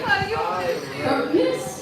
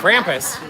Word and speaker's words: Krampus: And then, Crumpness?